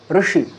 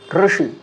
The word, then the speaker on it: ঋষি: অর্থাৎ মধ্যস্থানে যে উচ্চারিত হচ্ছে সেটাই হচ্ছে ঋকারের উচ্চারণ যেরকম কর্ম কর্ম রক্ষেত্রে আমরা যদি শব্দ দেখি ঋষি ঋষি এবং ককারের সাথে যদি ঋকারকে যুক্ত করি তাহলে